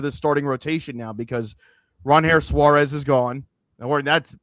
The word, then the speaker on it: Ranger: Only finding out now it's Ron Harris Suarez, not Ranger.